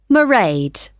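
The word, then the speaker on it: Mairead: see my assistant married sorry how do you spell that it's m a i r e a d merade okay got that it's not a name I'm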